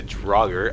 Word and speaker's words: Draugr: There's a trap in here, there's a chest there to loot, and a Draugr. I believe this is pronounced Draugr.